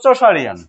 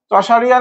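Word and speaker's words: Chaucerian: আসতে হবে এমনটা আসলে না তারপরে এজ অফ চশারিয়ান এজ অফ চশারিয়ান সি এইচ এ ইউ তারপরে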